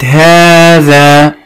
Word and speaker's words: هذا: كلمة هذا ممتاز، نضع تحتها خط لأنها بها حرف ينطق ولا يكتب. كل أسماء الإشارة إلا هاتان هي الوحيدة التي بها حرف ينطق ويكتب، لكن هذا، هذه، هؤلاء، هذان بها حروف تنطق ولا تكتب.